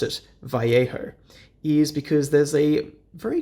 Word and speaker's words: Vallejo: is absolutely infallible and turns out the correct pronunciation is Vallejo so that is why I used a very